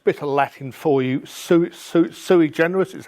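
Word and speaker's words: sui generis: and everything else bit of Latin for you su su su generous is how it's pronounced which are locations that are unique in themselves and if you go to useclass deco.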